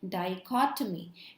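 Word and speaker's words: dichotomy: Okay, सो इसको कैसे pronounce करेंगे, वी विल से डाइकॉटमी.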